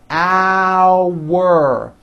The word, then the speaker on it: hour: going the second word our has that ow sound like in the word out and it sort of has a hidden W in the middle hour think of the word hour as having two syllables one two our like that our car